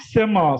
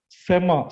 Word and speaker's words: sema: So it's called sema. Sema means listening.